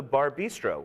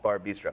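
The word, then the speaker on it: Bar + Bistro: And also Bar Bistro with their new chef downtown. Bistro. And there's the plus is not pronounced. I've been corrected on that by their publicist. It's just Bar Bistro.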